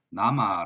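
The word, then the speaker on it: 나마: 명 증 중에 하나입니다 앞에 있는 것은 보통 이제 나 아니면 데 이제 이렇게 둘 중에 하나로 발음이 되는데요 우리가 보통 이제 요렇게 나와 있으면 어 17 광 등 중에 하나이기 때문에 내가 아니라 나로 읽어주는 게 맞죠 그래서 이거는 남아 라고 읽으면 될 겁니다 자 그다음에 나 하고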